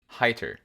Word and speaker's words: Heiter: of the name and i've settled on heiter is the the priest okay uh because e i is i and and the japanese